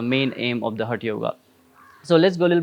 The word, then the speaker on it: yoga: as we Say it a yoga actually it's not a yoga it's a yog but because of the pronunciation of the western and eastern is a little bit changed so it's a yoga